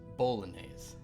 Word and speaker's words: bolognese: pronounced bolognese, is what I just learned.